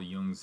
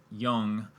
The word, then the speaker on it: Jung: Carl Jung's name, and we sort of took more of an American spin on it and pronounced it Jung rather than Jung, and the difference is slight, but there is a difference.